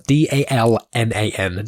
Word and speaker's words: Dalnan: Now, it's hard to pronounce, D-A-L-N-A-N, Dalnan.